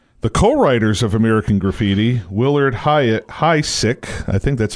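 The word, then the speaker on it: Willard Huyck: the co-writers of American Graffiti, Willard Hysick, I think that's how you say his name, Willard Hysick, and his wife Gloria Katz, they co-wrote American Graffiti.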